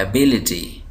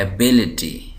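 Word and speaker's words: ability: देकर पढ़ रहा हूं एबिलिटी एबिलिटी तो यहां पर देख रहे कि मैं सिलेबल इस सिलेबल को मैं वाज करके पढ़ रहा हूं एबिलिटी एबिलिटी एकट यह तो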